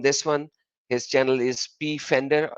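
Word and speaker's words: Pfander: His channel is P Fender, or you can pronounce it as Fender. P is silent, so I always say P Fender because so that people will understand that there is a P, so that they could find him properly.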